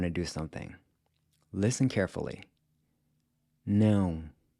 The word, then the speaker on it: não: Now, try keeping your mouth just barely open when you say it… “não”… “não” So if you wanted to say “I DON’T wanna go”, you’d say **“Eu NÃO quero **ir”…**“Eu NÃO quero **ir”.